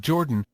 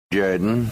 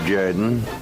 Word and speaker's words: Jordan: You're listening to It's Pronounced Jordan with Jeremy Henderson. This is Shug Jordan, coach of the Auburn Tigers. Say what? No. It's pronounced Jordan. Yes! Yes! Yes! This is Shug Jordan, football coach of the Auburn Tigers.